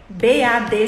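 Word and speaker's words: badge: hospital crachá de identificação aquilo chama Bad b a b g e B A D G E se fala Bad então se eu falo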